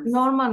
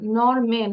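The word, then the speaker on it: Norman: জার্মান জার্মানস নরমান নরমান নরমান না নরম্যান আমরা মেন বলি না নরম্যান নরম্যানস ঠিক আছে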